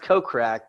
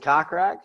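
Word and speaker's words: Kokrak: that's kirk yeah well he oh it's pronounced coke crack but there's pronounce it cockrack we we pronounce the cockroach as a joke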